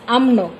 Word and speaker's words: UMNO: The Malay are playing a supportive role and subservient to the United Malay Nation organization that we call as a normal pronunciation is UMNO, and the Alliance Party in 1955 to that the 1957 Malayan Constitution underwriters, which such a conclusion.